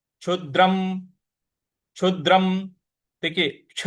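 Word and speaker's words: क्षुद्रं: क्ष छ क्ष छ क्षद्रम छु के बाद जो द है इस पर हमको हल्का सा बल लगाना है आघात देना है क्षुद्रम जो अनुस्वार है उसका उच्चारण हमें म ले आना है क्षुद्रम हृदय दर्बल्यन हृदय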